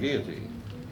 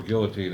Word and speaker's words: guillotine: guillotine, Oh, yeah. or guillotine as you Americans pronounce it.